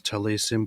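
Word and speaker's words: טליתים: The Yiddish plural is talesim, pronounced talesim, and so on.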